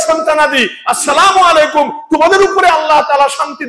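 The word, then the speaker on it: السلام عليكم: finishing আপনার সালাম এটা শুরুতে হামজাটা আলিফটা উচ্চারণ করতে হবে আসসালা বলেন উচ্চারণ করতে হবেলাম আলাইকুমলে সালাম হবে জীবনে আসসালামু বলেন আলিফটা উচ্চারণ করতে হবে আসসালামু আসসালামু আলাইকুম আইন দিয়া আলাইকুম না আলাইকুম আসসালামু আলাইকুম বলেন আলাইকুম শুদ্ধ করে বলতে হবে আসসালামু আলাইকুম অনেকে বলে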